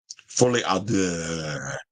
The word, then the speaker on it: Folie: Okay, it said it's pronounced Folie.